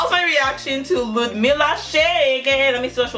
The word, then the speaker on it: Cheguei: And it's Cheguei.